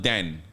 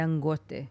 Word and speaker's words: Dangote: say his name again dangote not Dan no Dan must say it with a Nigerian accent dangote mhm yes dangote the